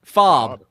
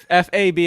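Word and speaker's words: FAAB: Pronounce F-A-A-B. Oh, fab. Fob. F-A-B is fab.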